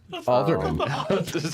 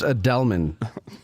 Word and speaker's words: Adelman: Alderman. Alderman. It's pronounced Adelman. Adelman, sure. A little more chutzpah and a little Jewish.